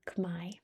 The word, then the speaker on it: Khmer: Official language is Khmer or Khmai, that's how they pronounce it there.